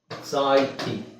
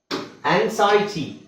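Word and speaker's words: anxiety: ನೋಡಿ ಆಂಕ್ಷಸ್ ಇದೆ ವಿಚಿತ್ರ ಅನ್ಸುತ್ತೆ ಓಕೆ ಎಲ್ಲಿದೆ ನೋಡಿ ಆಂಗ್ಸೈಟಿ ಆಂಗ್ಸೈಟಿ ಆಂಗ್ಸೈಟಿ ಇಲ್ಲಿ ನಾವು ಏನ್ ಮಾಡ್ತೀವಿ ಇದನ್ನ zೆಡ ನಜಿ ಡ್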